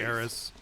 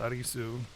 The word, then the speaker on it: Aerith: figure that out later it's the same thing with aerys aerith it doesn't matter what you say her name is like her name was eris in the original and you can say heiress but you know the fans let no it's not it's arizu but yeah you go off